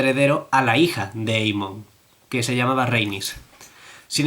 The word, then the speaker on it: Aemon: Porque tienen AE, que mucha gente lo pronuncia como suena, AE, pero en teoría debe pronunciarse EI, y entonces nunca estoy seguro de si lo estoy pronunciando bien.